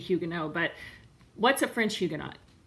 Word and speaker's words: Huguenot: what's a French Huguenot if I'm gonna say it correctly it would be Hyuga no but what's a French